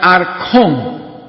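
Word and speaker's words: ἄρχων: Entonces, la palabra príncipe en el griego se pronuncia archón, lo cual significa un primero en rango de poder, un jefe gobernante o un gobernante principal.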